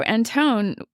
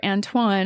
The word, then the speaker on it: Antoine: So Anton, or Antoine, if you want to say it right, he was dedicated to helping the enslaved and the prisoners.